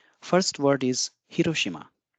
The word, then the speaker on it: Hiroshima: look at the vowel sounds first word is Hiroshima Hiroshima if you pronounce it we have Divas sounds e o